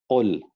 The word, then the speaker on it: قُل: Okay, this word not to be mistaken for the word قُل. قُل means say. Kul means eat. That's why you must pronounce when you say قُلْ هُوَ اللَّهُ أَحَدٌ, not كُلْ هُوَ اللَّهُ أَحَدٌ.